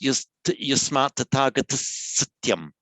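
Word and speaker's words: यस्मात् तथागतः सत्यम्: I've written it, but it's also correct to run the visarga into the S. And it would be pronounced yasmat tathagata satyam.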